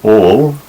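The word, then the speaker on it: ἀλλ': So al, this looks like the English word all, but we'll pronounce it al.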